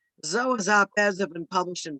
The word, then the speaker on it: ZOA: The ZOA, by the way, it's ZOA, it's not ZOA, it's ZOA. They use their letters as their pronunciation.